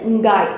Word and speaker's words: Ngai: இப்போ சுவாஹிலி மொழியில் இந்த இங்காய் அப்படிங்கிறத வந்துட்டு NGAI இங்காய் அப்படின்னு எழுதுகிறாங்க. ஒரு சில பேர் வந்துட்டு ENGAI எங்காய் அப்படின்னு எழுதுகிறாங்க. ஆனால் உச்சரிப்பு வந்துட்டு இங்காய் அப்படிங்கிறது தான்.